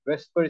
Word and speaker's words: VSEPR: electron pair repulsion Theory we call it safer Theory without pronouncing the V we also call it whisper Theory both pronunciations are correct I'll keep using the